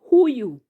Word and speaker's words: huyu: Next word, huyu. Huyu has syllable Hu, You. Hu, You. Those are 2 syllables.